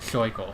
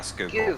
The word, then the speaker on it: Schuylkill: from PA if they pronounce it Scheukel, which is how it's spelled, but like it's not how you say it. Yeah, and in Dutch it's closer to Schuylkill. Google. Schuylkill. Yeah, Schuylkill.